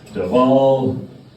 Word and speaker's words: Dhawal: So yes, my name is Dhawal. Dhawal. The W is pronounced as a V.